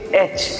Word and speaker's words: H: Exactly this is नॉट अ यच, you have to से एच.